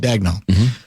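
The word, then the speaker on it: Daigneault: Who's the How do you pronounce the Oklahoma City states Oklahoma State Oklahoma City coach's name? Mark Dagnel. Dagnel.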